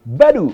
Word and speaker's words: Badoo: bakal kita bahas adalah Badoo atau dibacanya baru coba tampilan baru itu